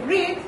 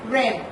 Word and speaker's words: read: El verbo read es un verbo que no cambia en escritura, pero sí cambia en pronunciación. En presente es read y en pasado es read.